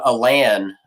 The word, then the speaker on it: Alan: Another weird pronunciation is middle name Alan, which I know in your video you took that C-SPAN clip and put that in there.